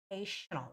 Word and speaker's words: occasional: it's voiceless sound it's occasional right but actually you have to make a voiced Mage so it's occasional occasional not s occasional rain and thunderstorm all